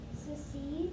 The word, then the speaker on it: secede: It's a soft C, and that is a silent E at the end, and it follows the phonics rules. secede There you go.